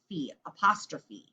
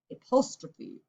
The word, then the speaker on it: apostrophe: out it's called an apostrophe look at the way it's spelled a post row and then ph sounds like an f so it'll be apostrophe apostrophe so this is an